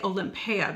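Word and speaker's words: Olympéa: This is Paco Rabanne's Olympia. And I say Olympia because of how it's spelled. It's got that accent grave over the E.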